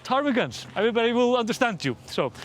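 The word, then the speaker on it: ptarmigans: I think it's tarmigans. It's like you have this silent pee here. Uh, I never understand the P rule when it comes to PT in English. It feels random.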